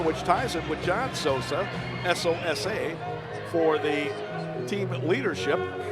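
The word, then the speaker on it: Sousa: Lucas spells his name S-O-U-S-A. It's pronounced Souza. He gets his 9th assist and 20th point of the year, which ties him with John Souza, S-O-S-A, for the team leadership.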